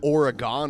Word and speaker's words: Oregon: In you know what that's actually pronounced Oregon, Ohio.